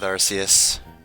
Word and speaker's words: Arceus: I feel like it has one of those pronunciations that's not intuitive to English speakers. Yeah, I usually go with Arceus.